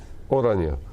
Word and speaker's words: Oranje: Oranje.